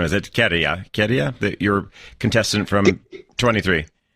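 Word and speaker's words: Käärijä: Of course, I think I'll get the pronunciation. Is it Kerja, your contestant from 23? Garia, yeah, the one with the green sleeves, the funny trousers.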